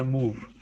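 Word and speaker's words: MOV: तो बेसिकली मैं मूव को मूव ही बोल रहा हूँ, बट अगर ध्यान से देखें तो एम ओ वी है, राइट। तो एम ओ वी को प्रोनाउंस हम करते हैं मूव, एम ओ वी E, right.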